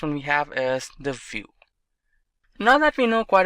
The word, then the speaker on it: Vue: complete web application solution vue.js is commonly referred to as View and pronounced as vuejs or view is rightly so now